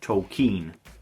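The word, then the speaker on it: Tolkien: Tolken from 2019 which they do mention numerous times in the film is actually pronounced Tolken.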